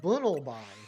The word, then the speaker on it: Bunnelby: Or it rhymes with tunnel.